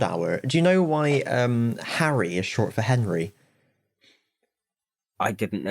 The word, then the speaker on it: Henry: In Anglo French, it was Harry. Yeah. So that's why it's literally meant to be pronounced Harry.